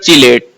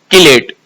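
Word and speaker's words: chelate: ये वर्ड लिखा हुआ है pronounced as कीलेट। इट is from the Greek word केले मीनिंग क्लॉ।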